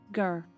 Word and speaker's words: Sugar: O U não tem som de U. Você vai pronunciar como sh. Sugar.